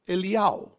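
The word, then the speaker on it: אליהו: Then, Yod Hey Vav, which spells Iyao, because in Hebrew, Elijah is pronounced Eliyahu.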